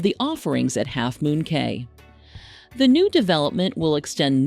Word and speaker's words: Cay: It's worth pointing out that we've always called the destination Half Moon Cay because that's how we've heard locals pronounce the name.